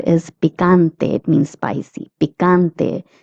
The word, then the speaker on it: picante: Picante. The CA is pronounced as ca, picante.